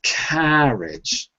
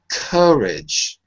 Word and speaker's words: courage: because I see it's it's not the second because it's not carage okay let me say let me say it a little bit more slowly C courage okay the thir it's